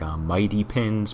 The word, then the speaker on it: MyDPins: I guess you're supposed to say it like Mighty Pins, but it's spelled MyDPins.